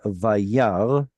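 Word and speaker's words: וַיַּרְא: The aleph has no vowel attached to it. It has quiesced. It is not pronounced at all. It has gone completely silent. It's like the G in bought. It's not doing anything. So the word here is vayar, and this little symbol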